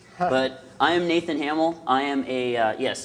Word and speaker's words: Hamiel: to pronounce his name but I am Nathan Hamel I am a yes it's pronounced Hamill I'm a principal consultant on fishnets application security